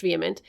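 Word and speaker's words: VHEMT: from the website okay vehement pronounced vehement is a movement not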